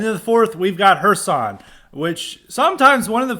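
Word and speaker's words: Kherson: I learned through my high IQ how to pronounce it and then the fourth we've got hersan which sometimes one of the funny things is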